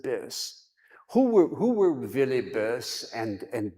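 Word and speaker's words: Böse: like Bosei speakers, but in German you have the two dots over the O. It's pronounced Bis.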